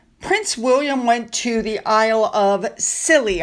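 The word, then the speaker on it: Isles of Scilly: Now, while all of this other stuff was going on, Prince William went to the Isle of Scilly, I believe is how you pronounce it.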